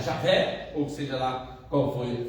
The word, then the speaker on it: Javé: Jeová é na verdade uma tentativa de transformar esse essas quatro letrinhas, arrumar uma pronúncia para elas. Mas os estudiosos que conseguiram voltar mais atrás e pesquisar mais, dizem que o melhor não é Jeová, mas é Javé.